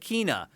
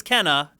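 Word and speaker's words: Kena: huh in the trailer sony called it kina and the developers are like no it's kenna so everyone was saying it right all along sony just confused people whenever they said it wrong in that phrase i thought that was the other way around because i've always said kina no that's incorrect it's kenna is the correct way to say it but anyway um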